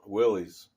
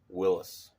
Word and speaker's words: Willys: number a little bit and what's cool about Willie's well when we stop for the purist out there it's actually pronounced Willis you'll hear real Willy's guys say Willis I